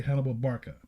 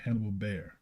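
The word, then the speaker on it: Hannibal Barca: carthaginian General Hannibal Barka it should be Hannibal Barka but they got Hannibal bear okay moreover it may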